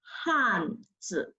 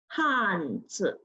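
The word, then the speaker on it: 汉字: The pronunciation is Hanzi. Comes again, Hanzi.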